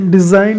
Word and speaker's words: design: डिज़ाइन में जी silent है, डिज़ाइन मतलब होता है बनावट या कलाकृति, ठीक है।